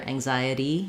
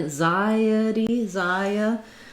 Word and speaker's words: anxiety: And then you do have that tense E at the end, so make sure that it doesn't become anxiety, but rather anxiety, that you go back to a tense E, even though it's unstressed at the end.